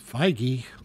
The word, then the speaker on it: Feige: producer kevin fiage has um what oh it's feige fionage kevin fiorage no it's fioraj baggy biage